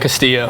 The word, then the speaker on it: Castillo: Today we are joined with Castillo, or that's how you say it? Castillo. Yeah. Castillo, yeah, okay.